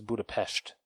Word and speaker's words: Budapest: Because remember the one guy kept saying Budapest, and she's like, it's Budapest.